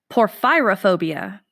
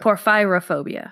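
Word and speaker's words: porphyrophobia: poor pyrrha phobia and your hint is ph y so it's poor fyra phobia poor fyra phobia sorry ph y Oh what was it P o r ph y ro poor fyra phobia oh poor fight for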